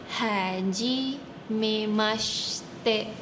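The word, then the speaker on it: はじめまして: Jadi cara bacanya itu bagian she, bagian she i-nya bisa di silent atau di tidak dibunyikan. Jadi pakai syh syh jadi bukan sy. Jadi haji mimaste.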